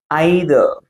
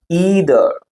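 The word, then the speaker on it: either: ஒன்னு வந்து ஐதர் ஐதர் அப்படின்னா வந்து அது பிரிட்டிஷ் இங்கிலீஷ்ல உள்ள ப்ரொனௌன்சியேஷன். நம்ம வந்து நிறைய பேர் வந்து சோவிஆர்ஃபாலோவிங் பிரிட்டிஷ் இங்கிலீஷ் அப்படின்னா வந்து நீங்க ஐதர் அப்படின்னு நீங்க வாசிக்கலாம். இன்னொரு உச்சரிப்பு இன்னொரு ப்ரனன்சியேஷன் என்ன அப்படின்னு பாத்தீங்கன்னா ஈதர் சோ இது வந்து American English pronunciation both are correct உங்களுக்கு எது கரெக்டா வருதோ நீங்க ப்ரனௌன்ஸ் பண்ணிக்கோங்க.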